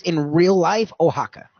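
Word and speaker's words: Oaxaca: word that's that's spelled that way is actually pronounced in real life ohaka o ax AA but theirs is not from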